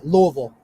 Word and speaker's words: Louisville: louisville how do you say it first uh louisville okay so that's technically the correct pronunciation okay so tell me what restaurants have